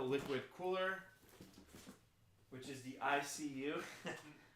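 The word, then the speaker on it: iCUE: And then he's got the liquid cooler, which is the ICU. I think it's pronounced IQ, or is it ICU?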